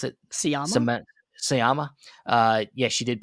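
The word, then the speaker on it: Sciamma: Um Seline, how do you pronounce it? Sama Sama.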